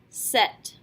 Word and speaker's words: cet: Ce will turn into set, C-E-T. Yes, we do pronounce this T because by definition the very next word has to begin with a vowel, which means that we're going to form a liaison.